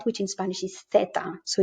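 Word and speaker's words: zeta: it like an s ceta but in spain we call it feta and that's a th in theater this is always pronounced like this in the standard spanish from europe uh theta and for example this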